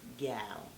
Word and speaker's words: Gyal: Make sure you say it properly. It's Gyal.